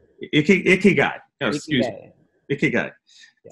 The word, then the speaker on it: ikigai: It's called ikagi. I may be saying it wrong, but it's a Japanese concept, and it's the concept. What is it? Ikigai. Did I say it right? Ikigai.